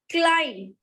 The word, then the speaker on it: climb: Whatever is ending with B here, B is not having any sound in the pronunciation.